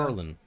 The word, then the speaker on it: Maryland: You know how some people Yeah, say that? Merlin, Maryland. which is Merlin for me is a wizard.